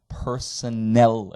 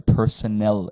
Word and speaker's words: Personnel: in German they're pronounced Personnel expenses the emphasis is on the last syllable and it's an e at the end not an a they're Personnel expenses and they can